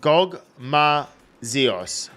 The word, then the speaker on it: Gogmazios: Okay, so it's pronounced Gogmazios.